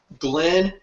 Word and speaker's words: Glenn: Glenn, that's 2 N's, second N is silent, _.